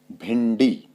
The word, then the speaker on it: भिंडी: के रूप में होगा तो जैसे एग्जांपल के तौर पर हम देख ले कंठी ठ ठ से पहले अनुस्वार आया हुआ है तो इसलिए यहां पर ण के रूप में इसका प्रयोग होगा कंठी और भिंडी तो यहां पर न नहीं आएगा आधा अण यानी ण के रूप में इसका